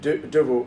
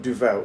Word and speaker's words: Duvel: Duvel is. It means devil. It's not Duvel. It's Duvel. Duvel. Duvel. Duvel is a correct pronunciation.